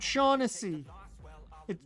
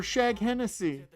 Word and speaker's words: Shaughnessy: Matt O'Shag, it's Matt Shaughnessy. Or Shag Hennessy, as some would pronounce it.